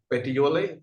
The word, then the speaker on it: Petiole: Am I pronouncing it correctly? Petiole?